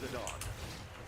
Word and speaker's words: Zidane: Baba, it's pronounced Zidane.